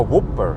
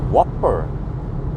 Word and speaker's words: Whopper: way i read it whopper ah it's pronounced like that whopper is that it that's kind of weird because you say whoop like whoop that ass but you don't say what you have to say whopper that is very confusing well